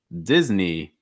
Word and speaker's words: Disney: that disney disney okay notice here short i sound so it's not dies it's not dis it's this dis also the knee part at the end knee just like the body part knee knee on your leg it's a long i sound it's not a it's not disney it's disney disney after that netflix netflix